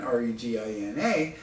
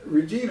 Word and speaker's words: Regina: Regina as an American, R-E-G-I-N-A, I'm thinking I would naturally pronounce it Regina. But turns out, I find out later, that Regina is pronounced Regina by Canadians, which rhymes with that female body part, you know, the veg, oh, never mind.